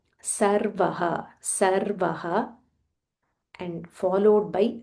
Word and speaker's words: Sarvah: So we need to be very careful when we are pronouncing sir and sh because when we um change by mistake the meaning changes.